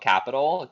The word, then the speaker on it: Qapital: It's called Capital, Qapital. I used to Okay. call it Quapital all the time, but I guess they pronounce it Capital, Okay.